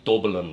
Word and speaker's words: Dublin: And I like the way you say Dublin. That's the way it's pronounced.